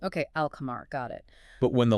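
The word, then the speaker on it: القمر: the 14 lunar letters you pronounce the L sound clearly like an alchemar, which means the moon. You hear the L. Okay. Alamar.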